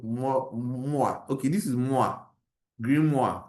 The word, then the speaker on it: Grimoire: Grimoire. I think it's French kind of thing.